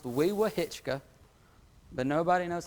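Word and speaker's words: Wewahitchka: Weewa is pronounced Weewa-Hitchka, but nobody knows how to say it when you read it on the sign.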